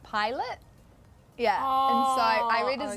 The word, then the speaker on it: Pilate: from this chapter and i said um pilate instead of pilate yeah so i read